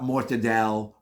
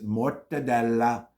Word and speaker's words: Mortadella: cut ever and it's called not mortadel or more whatever it's Mortadella that's the way it's pronounced the last one that